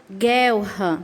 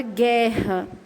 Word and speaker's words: guerra: só vai ser dígrafo quando você fala palavra e você não pronuncia a letra U por exemplo a palavra guerra a palavra guirlanda guitarra